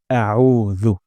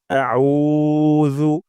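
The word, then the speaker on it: أعوذ: হবে এটা খুবই গুরুত্বপূর্ণ আমরা আইন উচ্চারণ করব গলার মাঝখান থেকে আউ আউ হামজার শব্দ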